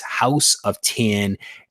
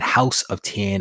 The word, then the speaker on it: House of X: So I've heard it as 10 and not X.